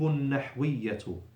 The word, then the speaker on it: النحوية: read after me, التراكيب النحوية. التراكيب النحوية. So on both words, we don't pronounce the lam, because we have a shadda after L.